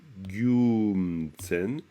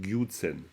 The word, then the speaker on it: Gyumtsen: dire le mot là, vous allez le prononcer Gyumtsen et Gyumtsen, et vous n'allez pas dire Gyutsen, parce que ça nasalise, c'est Gyumtsen.